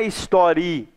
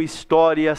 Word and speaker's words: história: Espera aí, história é paroxítona. A sílaba tônica é o tó. O tó é a penúltima sílaba. Ah, então termina em A? Não, não termina em A, termina em A. Não é história que a gente fala. A gente fala história, termina em IA.